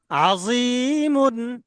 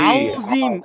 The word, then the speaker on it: عظيم: আজি, আজি, আজি, আজি, আজি, আজি, মিম দুই পেশ মুন, মিম দুই পেশ আজিমুন, আজিমুন, আজি, আজি, আজি। আজিম, এখানে জি, আউজিম আমরা অনেকে পড়ি সুবহানা রাব্বিয়াল আউজিম, আউজিম না, কি জিম? আজিম।